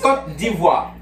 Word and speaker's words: Côte d'Ivoire: It's Côte d'Ivoire. Côte d'Ivoire. Côte d'Ivoire. Yeah. Not Côte d'Ivoire. Côte d'Ivoire, yeah, Côte d'Ivoire.